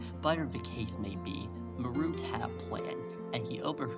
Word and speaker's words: Marut: Actually, his name was Marut. That's how you say it. Marut. m a r u t a root like ma your root.